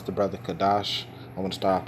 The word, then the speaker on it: Kadash: The pronunciation is Kadash, and that's actually the way that I spell it, with a K-A, simply because my worldly